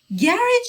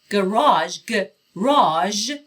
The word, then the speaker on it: garage: کلمه garage گفتم که نکته تلفظی داره، چند تلفظ مختلف براش داریم. گاراژ یکی از تلفظهای بریتیشش هست که تو این کتاب داره استفاده میشه. گراژ صدای ژ نه ج. گراژ تلفظ امریکنش هست. پس گاراژ و گراژ.